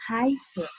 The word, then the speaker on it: heiße: Jadi bukan Ich habe, tapi Ich heiße.